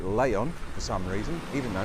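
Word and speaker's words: León: new seat leon and you say it lay on for some reason even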